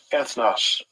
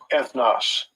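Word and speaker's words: ἔθνος: it strong G 1484 ethnos ethnos okay that's how that word is is pronounced right okay let's get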